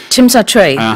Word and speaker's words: Tsim Sha Tsui: And thousands of protesters were out in the harbourfront district of, help me out with my pronunciation here, Tsim Sha Tsui. Tsim Sha Tsui.